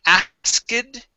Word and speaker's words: asked: Okay, now instead of saying asked, you guys, okay, this word is pronounced asked. Okay, so we skip over the K, asked, and we go right to the T sound, asked, like that, asked.